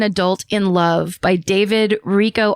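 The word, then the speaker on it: Richo: in Love by David Rico. R I C H O is how I'm assuming it's pronounced.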